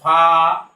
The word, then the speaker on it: ফা: এরপরের অক্ষরটার নাম হল ফা ফা ফা উপরে দাত এবং ঠোটের পেটের সাথে লাগিয়ে এই অক্ষরটা উচ্চারণ করতে হয়।